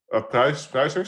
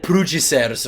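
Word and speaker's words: Pruijssers: I know a lot of, like, how do you say Roland's last name? Pruisers? Oh my god, is that how you say it? That's how you Okay, because I've always said it Prugicers or something, so...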